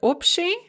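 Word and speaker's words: общий: commonly in the word opti general or common and its various derivatives such as abshizitia so that ba before the sha in opti or abshishitsya is pronounced more like a pair and there's your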